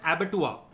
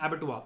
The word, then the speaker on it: abattoir: So such a place is called an abattoir. Abattoir. It's called an abattoir. It's written as abattoir, but it's pronounced abattoir.